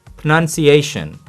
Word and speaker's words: pronunciation: For example, look at the word pronunciation. It has 5 syllables, but only second and fourth syllables are stressed. If you pay attention, you would notice that the strong or primary stress is on fourth syllable, whereas weak or secondary stress falls on the second syllable.